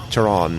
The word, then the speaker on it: Charon: No, I think this is more like the Greek, you know, Charon, you know, Charon. You know, if you pronounce CH without the H.